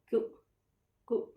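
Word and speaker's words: queue: Ku. So E-U-E is silent. For tail, we say ku.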